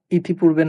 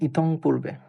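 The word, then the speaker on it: ইতঃপূর্বে: ইতিপূর্বে না হয়ে এটা হবে ইতং পূর্বে। ইতং পূর্বে আমরা উচ্চারণটা এভাবে করব। যদিও নরমাল উচ্চারণ ইতপূর্বে।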